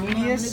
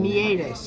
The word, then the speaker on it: meatus: Meatus, actually. Outside ear hole. Meatus, because that's It's how it's spelled. meatus, you said. Meatus is spelled wrong. Yeah, but meatus is how it's said.